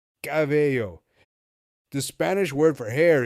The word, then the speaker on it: cabello: So when we add the visual, a cab, and the sound A plus yo, we get cabello.